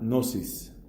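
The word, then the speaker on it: gnosis: Estamos hablando de la nosis, palabra griega que se suele citar así en griego se escribe con una g inicial g n o s i s.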